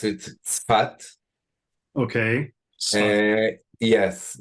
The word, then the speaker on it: Safed: again the name your hometown my hometown is safed we pronounce it spat okay yes it's a nor a little bit